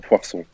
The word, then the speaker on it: Poirson: Poirson. How do you help us, yeah. Can you pronounce your name better than us, please? Easy. Poirson.